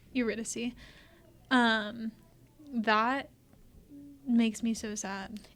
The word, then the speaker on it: Eurydice: Or Eurydice. Eurydice.